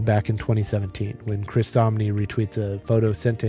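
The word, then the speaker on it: Samnee: of Superman by Chris Somni, who is a professional comic book artist. His name is spelled S A M Ne N E, but somewhere I saw once said he wrote it rhymed with Omni, so that's why I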